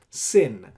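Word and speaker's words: שׂ: This is shin with a dot on the left hand side, so you pronounce as sin.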